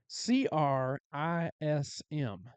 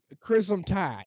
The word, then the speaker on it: Crimson: They don't pronounce it Crimson Tide. how do they say it? It's CRISM. Christen. Crimson Tide.